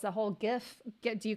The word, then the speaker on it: GIF: I call it a GIF too. I know it's not supposed to, right? It's supposed to it was supposed to originally be pronounced J.